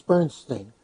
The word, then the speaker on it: Bernstein: Bernstein. No, there are two pronunciations of that name, but in Wells it's Bernstein.